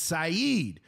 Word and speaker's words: Saeed: I actually corrected someone at work today because they said a fighter's name wrong. I said, no. It's Saeed, not said. Saeed.